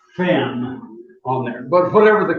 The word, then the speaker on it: Ven: Now, since the island belongs to Sweden, it's Ven, or actually they come closer to spelling it, pronouncing it Fen on there.